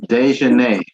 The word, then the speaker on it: Dejanay: It's misspelled, Your Honor. It's Dejanay. Dejanay. Right. It's misspelled officially misspelled. Okay, Right. thank you. So it does, what appears of record is correct, but we are going to pronounce it correctly. It is Dejanay.